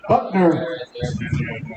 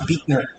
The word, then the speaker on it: Buckner: Kicking off for the Vikings tonight, Drew Buckner. It's pronounced Beekner. Beekner, thank you.